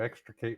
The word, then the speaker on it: extricate: Well, I'm going to be checking it out as soon as I get a chance to extricate myself from the festivities. Extricate still only has 3 syllables, so.